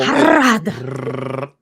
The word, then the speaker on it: Harad: Harad. Sounds smarter to roll your R's. Makes you sound more Tolkienian.